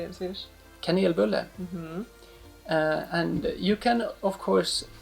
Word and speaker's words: kanelbulle: Kanelbulle.